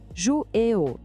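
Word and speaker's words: jouer au: A pronúncia de jouer ou é super conectada, parece uma palavra só. Tente dizer jouer ou, bem rápido.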